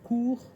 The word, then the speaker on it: court: des règles d'or c'est en général on ne prononce pas la dernière lettre et ben voilà là c'est un bon exemple port porort porort court court courts s s